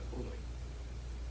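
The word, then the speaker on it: πόρνοι: 또 음행하는 자들, 뭐 해석할 필요도 없지만 음행하는 자들에 대한 헬라어 원어를 보면은 헬라어 원어 발음이 뭐라 그러자면 포르노입니다. 포르노이. 영어의 그 단어의 어원입니다.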